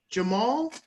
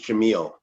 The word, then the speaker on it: Jamil: We have Jamal. Is that I pronounce it right? Good morning. No, my name's Jamil.